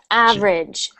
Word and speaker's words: average: So again, that sound isn't sh, it's j, average.